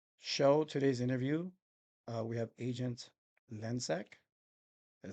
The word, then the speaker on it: Lencsak: So today's today's interview, we have Agent Lensek.